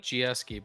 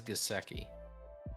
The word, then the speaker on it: Gesicki: I like Gieske, but I think it is Gesicki.